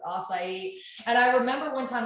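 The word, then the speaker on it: açaí: And I was like, it's acai.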